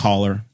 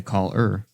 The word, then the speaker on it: collar: I pronounce both O's. I don't say call-er.